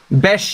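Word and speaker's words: Beş: The S underneath it is like sh, as in shark. Gotcha. So, besh yil ons, un yil sonra.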